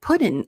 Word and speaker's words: put in: To put in a good word. We have put in again. So see, it sounds like puddin', especially if you're from the South.